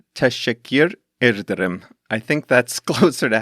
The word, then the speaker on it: teşekkür ederim: to say thank you, or should I say teşekkür ederim, to Metin and Seville, who helped me with the pronunciation of Turkish names in this episode. I have to try that again. I think it's teşekkür ederim.